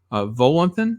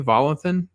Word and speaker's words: Volanthen: Viggo Mortensen character, and John Volanthen, I think is how you say Volanthen, Colin Farrell's character.